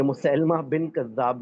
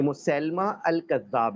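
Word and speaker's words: مسيلمة الكذاب: भाईजान सुने ये मुसलैमा बिन कद्दाब नहीं है। कुछ लोग इसको गलत प्रोनाउंस करते हैं। यहां तक कि कुछ गलत लिख भी देते हैं अपने नोट्स में। ये मुसैलमा अल कज्जाब है।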